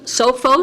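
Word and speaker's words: Sophos: the renewal of the how's what how's that pronounced sofos sofos SOS sofos okay the sofos antivirus software for micro integration of South Bend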